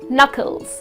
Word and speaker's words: knuckles: well your knuckles yes so when you write it you write it with a que but when you pronounce it it's not chemicals it's just knuckles okay the letter K is silent so these are few